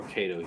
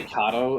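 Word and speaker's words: Kato: you guys are cool people say kado and I was like oh okay I mean kado is probably the correct way of pronounce act Japanese terminology I was going to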